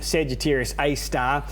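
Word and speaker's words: Sagittarius A*: middle of our galaxy it's not a star it's just its name Sagittarius a star and it's spelt like that with the asterisk but what's happened here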